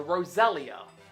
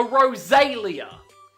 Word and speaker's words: Roselia: Now, this is called a Roselia, not a Rosalia. Like, this one doesn't annoy me as much as the others I've talked about, but it's still rather annoying. Like, there's no A sound in its name. It's Roselia. Elia. Not Alia, Elia.